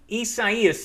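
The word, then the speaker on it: Isaias: Eduardo Fay Gonzalo Hana essayist is how you pronounce that one if I've got my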